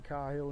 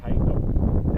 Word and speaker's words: Cahill: South Australians pronounce it Cahill. And Darren Cahill played tennis for Australia in Davis Cup. His father was John Cahill, who was coach of Port Adelaide Football Club, but they say Cahill.